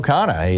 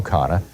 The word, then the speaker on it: Khanna: But let's start out with Congressman Ro Khanna.